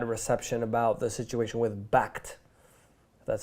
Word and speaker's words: Bakkt: are blaming bad reception about the situation with Bakkt. That's how you pronounce it.